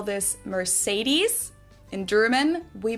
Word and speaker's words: Mercedes: So Mercedes versus Mercedes. Mercedes. So it's really pretty different. Here's an interesting one because, of course, this name originally comes from Spanish. So what's the authentic pronunciation of this word? Is it the German Mercedes? Is it the Spanish Mercedes?